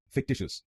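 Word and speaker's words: fictitious: तो बनेगा फिक्टिशियस फिक्टिशियस फिक dish अस फिक dish अस फिक्टिशियस फिक्टिशियस। और इस शब्द में आपको दूसरे शब्दांश पर जोर डालना है, फिक्टिशियस फिक्टिशियस।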